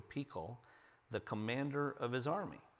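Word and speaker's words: פיכל: An advisor named Ahuzath, and I know it looks like Phicol, but it's pronounced in Hebrew Pekol, the commander of his army.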